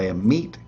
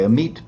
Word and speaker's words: Amit: by a meat Pandy a meat spelled m AIT T not a m a t like you know roast beef is a meat no sounds like that but it's spelled meit t so votes are done